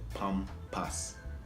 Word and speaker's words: Pampers: We Jamaicans say Pampas.